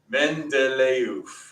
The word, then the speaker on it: Mendeleev: Yeah, that's how you pronounce his name. Mendeleev. Because Britain, who knows why. Anyway, so they're like, oof, we need a letter combination for oof. EEV becomes oof.